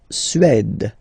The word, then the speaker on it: Suède: La Suède, la Suède, Suède. Remember, accent grave, it's really open.